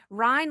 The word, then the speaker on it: Rhyne: Ryan, like the river in Germany, but with a Y instead of an I.